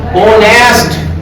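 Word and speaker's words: honest: तो कैसे करना है मैं बताता हूँ आपको, इसे प्रोनाउंस कीजिए, बोलिए ओनेस्ट, क्या बोलना है ओनेस्ट, कुछ बच्चे होनेस्ट कहते हैं तो गलत हो जाएगा, हो की आवाज देगा एच की, आपको बोलना है ओनेस्ट।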